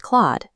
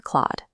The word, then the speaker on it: Clawd: It rhymes with Claude, never clawed.